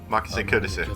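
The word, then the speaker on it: Makise Kurisu: Makase Kurisu, that's how you say it.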